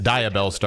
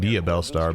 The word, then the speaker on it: Diabellstar: I've been pronouncing that wrong, by the way. It's Diabellstar. I've been saying Diabellstar, but hey, you live and you learn.